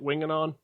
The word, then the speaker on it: Winganon: that right is that how they say it winging on yeah okay um i appreciate it that's all